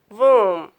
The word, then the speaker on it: womb: When B comes after M, B is not pronounced after M. B is silent after M. If our words end in B, MB, then B will be silent. These words, if our words end in MB, you don't pronounce B. B will be silent. You pronounce this word is climb, bomb, calm, karam, dumb, limb, num, thumb, tomb, womb. All these words sound M. Last words say mm.